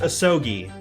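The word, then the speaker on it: Asogi: judge uh apparently apparently the name is pronounced ahsogi but asaki one asuki sounds to me it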